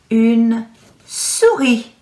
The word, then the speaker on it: une souris: This one does have a silent S again. Have you noticed? You will say une souris.